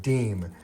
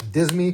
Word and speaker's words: disme: What was actually first was the half deem. And you'll hear people call it the half Disney because it's what it looks like it should be pronounced.